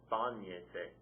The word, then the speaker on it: bañese: So it's going to be bañese. Accent mark over that first say. Bañese. Because it's 3 syllables back and the stress is there.